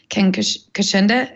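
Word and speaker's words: Ken Kocienda: If you haven't read that book, Ken Kashinda, am I pronouncing it right?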